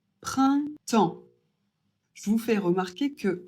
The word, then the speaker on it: printemps: Le printemps I et N, ça fait 1.